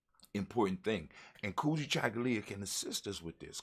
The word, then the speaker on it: Kujichagulia: And self-determination, Kujichagulia, when you say it properly, Kujichagulia, and just let it ring, it rings with that African tone.